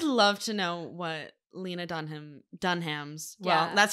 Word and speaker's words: Dunham: it I would love to know what Lena Dunham Dunham's yeah that's how we pronounce it by the way um I'd love